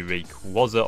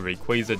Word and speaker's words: Rayquaza: to be using the Rayquaza or Rayquaza depending on how you pronounce it and we're going